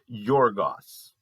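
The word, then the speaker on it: γεωργός: In the Greek, it's pronounced something like this. I'm no guarantees here, but Yorgos.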